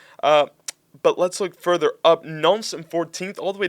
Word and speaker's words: Nantes: How do you pronounce this? Nantes? Yeah, Nantes. Okay. Don't overcomplicate it. Nantes.